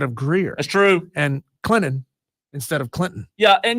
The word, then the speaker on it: Clinton: And Clinton instead of Clinton. Yeah, and you know what? Real quick on that. Like nobody enunciates that T in Clinton. Nobody says, "Hey guys, we're going to Clinton tonight."